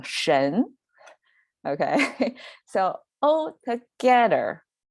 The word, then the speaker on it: 神: related to prayer and the right part is pronunciation it's pronounced by itself by by itself mean pronounced as a shin and now together with this praying concept together they become shen okay so all together